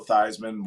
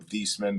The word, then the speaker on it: Theismann: up remember when joe theismann won the heisman and he changed the his last name or the pronunciation of his last name from thiessman to theisman to help his like heisman uh voting or the